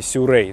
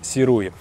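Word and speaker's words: Sirui: на штативе от компании сюррей да именно так произносится название компании Мы привыкли слушать слышать серую этот штатив гораздо легче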